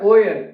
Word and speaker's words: euer: है, दस ईस्ट ये है किसका टेबल है, ओयर, ई यू ई आर है, ओयर के स्पेलिंग होते हैं EUER, ओयर ठिश, ये तुम